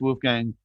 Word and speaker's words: Wolfgang: Wolfgang.